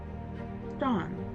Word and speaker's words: Don: Dawn, which is spelled D O N, like Donald, the being I had the most interaction with, observed the most, and his appearances burned into my memory.